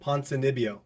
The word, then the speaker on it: Ponzinibbio: Santiago Ponzinibbio.